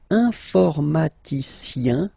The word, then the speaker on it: informaticien: And the last group is IEN, informaticien, yin. So that's the way to pronounce this IEN, yin, okay?